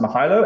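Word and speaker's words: Mihailo: guy and i believe his name is pronounced mihalo and he had an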